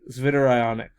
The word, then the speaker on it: zwitterion: As a result, at pH 7.4, we have the zwitterionic. That's another one that Chalmers is going to test you on your pronunciation skills.